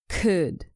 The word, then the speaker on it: could: me repeat should would could make sure you don't pronounce the L in these three words some people do this